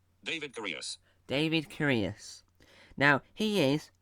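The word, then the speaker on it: David Correos: Here's how it's pronounced. David Curious.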